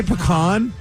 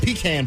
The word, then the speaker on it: pecan: I say pecan, but then if I'm having the pie, then it's a pecan pie. Pecan pie. Why do there have to be 3 different pronunciations?